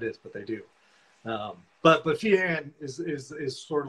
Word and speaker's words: Feehan: So it's Irish. The correct pronunciation is actually with the H silent. It's Feehan. But I'll tell you, about 100% of the time it's pronounced Feehan. Okay. Unless you go to Ireland and then everybody says Feehan. And actually, when some of